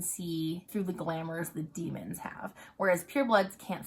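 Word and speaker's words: daimon: that are around though demon is spelled d a i m o n which drives me bonkers but in the audiobooks it's pronounced demon so we're talking about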